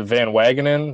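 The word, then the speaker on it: Van Wagenen: think brody van is a van wagonen is how you say his name the mets uh gm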